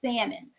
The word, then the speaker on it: salmon: I was going to say salmon, y'all, because, that's that Philadelphia education system. But as my son has, continued to correct me, it's salmon. The L is silent.